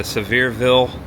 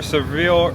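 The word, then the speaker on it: Sevierville: Do we say Severeville or Sevir? Severeville. It's a mouthful. Yeah, I think. Say Severeville. Yeah, I think that's what the locals say. Severeville. It's kind of like Louisville.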